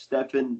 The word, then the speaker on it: Stephen: with this technically like my name is pronounced Stephan it's very French I've been listening people